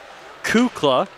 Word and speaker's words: Kukla: number 19 the captain apparently i've been saying that name wrong for years it's actually pronounced kukla which i'm glad i